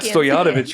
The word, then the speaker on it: Stojanovic: You don't have to remember I will how to pronounce it. I got Stojanovic right.